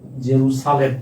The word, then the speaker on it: জেরুজালেম: ইসরাইলের রাজধানীর নাম হচ্ছে জেরুজালেম। উচ্চারণটা হল জেরু জেরুসালেম। ঠিক আছে? জেরু সালেম।